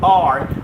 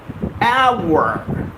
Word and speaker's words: hour: word h o u r most of us get the pronunciation wrong here we pronounce it as R well that's not the right pronunciation for your confirmation the right pronunciation is our hour hour yes you heard